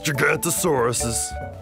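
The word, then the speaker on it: Giganotosaurus: I'm Gigantosaurus, the longest meat-eating dino who ever lived. You say my name like this, Gig-ant-o-saurus. It means giant southern lizard.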